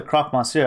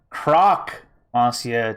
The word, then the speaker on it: Croc Monsieur: introductions you are the croc monsieur are you not that's croc masia to you it's mr croc he's not a sandwich he's a crocodile my god people always get the pronunciation wrong i'm not really hearing